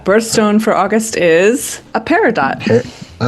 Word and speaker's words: peridot: It'd be peridot. But French don't don't pronounce an n syllable unless there's like an e after it, so you wouldn't pronounce the end t.